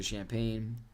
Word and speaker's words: Champaign: So, Champaign It is just straight up Champaign, right? Like I'm not like It's not like a special different pronunciation.